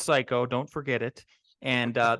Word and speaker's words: Cayko: name on LinkedIn last name c-a-y-k-o pronounce psycho don't forget it and